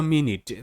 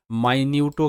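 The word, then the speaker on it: minute: হ্যাঁ এটাকে আমরা মাইনিউটও কিন্তু বলি। মাইনিউট। মাইনিউট উচ্চারণ এর অর্থ হবে অতি ক্ষুদ্র। খুব ছোট। মানে সাউন্ড দুটো হবে। দুটোর অর্থ আলাদা হবে। কিন্তু বানান এক থাকবে।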